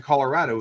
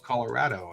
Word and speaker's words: Colorado: yeah I know right like it's here in Colorado it's Louisville Colorado and and so he has such a hard